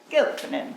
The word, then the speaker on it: Kilpinen: We were talking earlier about the mispronunciations that Americans will give to that name, but we know Kilpinen.